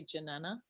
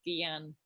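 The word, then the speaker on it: jnana: pronounce jana yana no english people say janana and in india it's gian or guyana ah giyana okay thank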